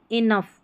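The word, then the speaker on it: enough: Laugh, कफ या कॉफ, laugh, कॉफ, इनफ और रफ। यहाँ पर जो GH है ना, इसको फ पढ़ा जा रहा है।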